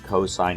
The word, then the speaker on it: cos: looks like sin and this is still pronounced cosine even though it looks like cos so when you're dealing